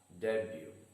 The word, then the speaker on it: debut: the first word debut the stress is on the first syllable day and the letter t is silent and that is why the word is read as debut the second word kangaroo